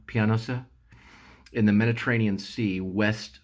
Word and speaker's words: Pianosa: Army Air Squadron is based on the island of, I think it's pronounced Pianosa, like a piano, Pianosa, in the Mediterranean Sea west of Italy.